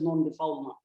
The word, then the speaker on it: non-refoulement: Non-refoulement is a French term. It is pronounced as per the French pronunciation, but it is written in English as non-refoulement, but it is pronounced as non-refoulement.